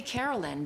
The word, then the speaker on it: Caroline: name and she said maybe we should say Carolyn because it sounds more like the original pronunciation right and then I